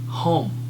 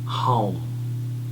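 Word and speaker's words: Haum: Okay, the Bij mantra of this chakra is Hum, H-A-U-M, so it is pronounced as Hum, H-A-U-M, Hum.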